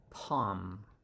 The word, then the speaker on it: palm: and 29 is our palm l is silenced silenced and it's palm palm like that and it